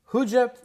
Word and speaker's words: who did you: Huja is a really popular pronunciation of who did you? Who did you see at the party? Who'd you meet outside? Who did you? When you Yeah, there's that is the answer. When you say who did you a little faster, who did you? Huja. Huja. The faster you speak, the more it's all compressed into one.